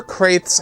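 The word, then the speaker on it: Crath: meets Star Wars, and was described as Leader Kraith's helmet. So the character's name is spelled Leader, C-R-A-T-H, Kraith, not to get mixed up with the planet Kraith, but Kraith like that.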